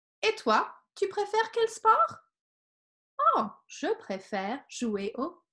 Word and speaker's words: au: word au which is pronounced oh just like the letter O but notice for these